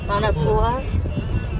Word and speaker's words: manapua: Manapua.